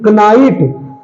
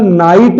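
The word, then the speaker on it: knight: अगला है KNIGST, कनाइट नहीं, ये कनाइट नहीं है, के इसमें साइलेंट है तो ये केवल नाइट है, कनाइट नहीं है।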